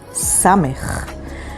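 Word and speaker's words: ס: Let's continue on with the letter samech. Samech sounds like sa.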